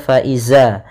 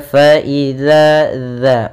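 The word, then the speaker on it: فإذا: ada Mad thii kemudian harus hati-hati dalam pelafalan dalal jangan terbaca faizza jangan terbaca dengan bacaan Zaza tapi dia faidzaza kemudian Hum ada mim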